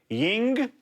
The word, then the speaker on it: Yuengling: Yuengling.